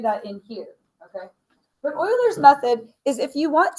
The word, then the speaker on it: Euler: So what we are going to look at today is called Oilers's method. I know it looks like Eers, but it's pronounced Oilers.